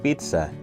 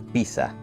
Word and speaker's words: pizza: italiano y por ello lo correcto es decir Pizza en lugar de piza alguna vez te has